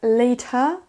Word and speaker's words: later: Moi j'ai personnellement un accent américain, donc je vais prononcer comme un D, mais vous pouvez tout à fait prononcer comme un T. Mais notez que le R, on ne l'entendra pas. On ne dira pas later, comme ça. Les Américains vont rouler le R, later. Et les Britanniques vont pas du tout le prononcer.